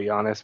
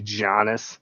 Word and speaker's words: Giannis: Like the word does anyone listen to CCK, the Giannis? No, that was Pat's show today. The Giannis thing? Yeah. I didn't. Like Giannis, they call it Giannis, but it should be Giannis.